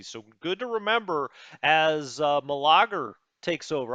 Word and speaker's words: Meleager: So good to remember as Malager takes over. I'm going to call him Meleager. Meleager. Let's call him Meleager the New. Well, they already named him the New, but now I'm pronouncing it Meleager.